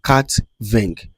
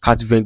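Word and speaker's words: quatre-vingts: They may just quatre-vingt without S there. But the reason is that we don't pronounce S at the end of the word in French. That's why it is not pronounced.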